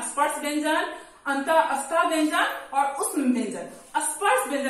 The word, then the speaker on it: अतः: में होता है, जैसे अतः, प्रातः, पुनः, ये विसर्ग का उच्चारण जो है ह की तरह होता है। जैसे आप बोलेंगे अतः, पुनः, प्रातः, ये उच्चारण ह में कहलाता है।